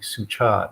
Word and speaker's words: Suchat: Ajahn Suchat, who does live Zoom teachings in English over the internet, and so his name again would be spelled Suchart. Suchat is how it's pronounced in Thai.